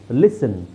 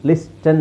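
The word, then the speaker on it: listen: ಇಲ್ಲಿ ನೋಡಿ ಟಿ ತೆಗಿಬೇಕು ಇಲ್ಲಿ ಟಿ ತೆಗಿಬೇಕು ಲಿಸನ್ ಲಿಸನ್ ಲಿಸ್ಟನ್ ಅಲ್ಲ ಲಿಸನ್ ಇದು ಫಾಸ್ಟೆನ್ ಅಲ್ಲ ಫಾಸನ್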